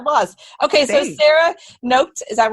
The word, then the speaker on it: Noked: Noked. It's Noked. It's like naked with an O. Noked. Naked with an O. The emphasis here is on the end of the word. It's like the last syllables.